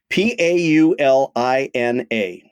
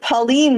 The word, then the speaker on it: Paulina: South Street in Chicago p a u l i n a so my instinct would be to pronounce it Pauline but since you're asking me maybe it's Paulina you are very good